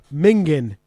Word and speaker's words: mingin: Mingin. Can you spell that? Minging. Minging. Minging. Yep. Yeah, but it's usually like no G's. We just ends like minging. It's mingin.